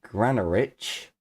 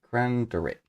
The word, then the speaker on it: Granderick: Magos Errant the Granarich was betrayed. Assist me in saving him, and I will assist you in however you require. Here is his name, because I definitely said it wrong. It's D. Granderick.